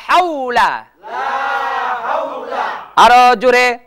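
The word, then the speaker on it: لا حول: লাম হা ওয়াও জবর হাও লাম জবর লা লা হাওলা লা হাওলা লা হাওলা লা হাওলা একটা হইলো হাওলা আরেকটা হইলো হাওলা উচ্চারণটা হবে লা হাওলা লা হাওলা এই যে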